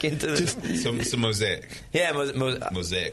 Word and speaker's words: Mosaic: Yeah, mosaic. If anybody was wondering, it's pronounced mosaic.